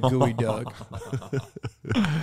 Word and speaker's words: geoduck: I think it's like it's written like geoduck but it is it's a spell it's said like gooey duck what does it taste